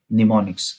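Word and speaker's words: mnemonics: to check this ponics is the word pneumonics m is silent m n e m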